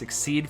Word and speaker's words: XYZ: Shark was a powerful duelist and a master of XYZ, which we are now going to pronounce Exceed for some reason, summons.